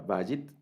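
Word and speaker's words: בית: tenemos la palabra bajo la palabra bajit del acento en esta primera digamos en la primera sílaba bayern y esta palabra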